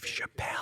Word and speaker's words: Chappelle: His last name rhymes with lapel. If you want to say Dave Chappelle.